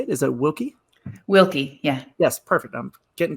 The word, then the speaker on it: Wilke: Wilke, yeah.